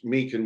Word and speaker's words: Meechan: Well, my name is pronounced Meechan with a hard sort of CH sound, which is a surname via Scotland and Ireland.